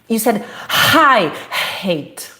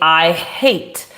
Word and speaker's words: hate: And you did not pronounce this sound. You said, I ate. When I asked you to read, you said, hi, hate. You put I know it is challenging to say, I hate.